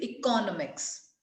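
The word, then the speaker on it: economics: Subject भी होता है, बट the word actually is इकोनॉमिक्स। तो सी ओ पे अगर हमने स्ट्रेस सी ओ पे दिया तब उसकी प्रोनाउंसिएशन ठीक हुई, तो देन वी विल इकोनॉमी।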